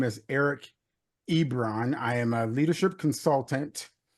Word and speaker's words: Ebron: I want to make sure I'm pronouncing your name right. Ebron, yes.